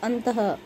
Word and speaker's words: अंतः: इसका उच्चारण हल के ह के समान होता है, जैसे अंतः, पुनः, प्रातः आदि।